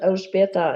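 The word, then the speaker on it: Elżbieta: calls me but my first name is El beta and it's I think a chore for most people to pronounce wherever I go and someone has trouble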